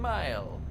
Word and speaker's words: mil: Or a Scandinavian Mile! For those who don't know, a Scandinavian Mile is 10 kilometers. And we use it, we pronounce it mil, and we spell it M-I-L.